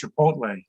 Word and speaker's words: chipotle: of 2021 is chipotle but my son says dad is pronounced chipotle i said great kid